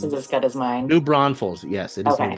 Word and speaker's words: New Braunfels: New Braunfels.